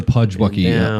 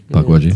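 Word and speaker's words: Pukwudgie: That reminds me more of the Pudgewucky. Was it Pudgewucky? Am I always pronouncing that right? Puckwudgie. Close enough.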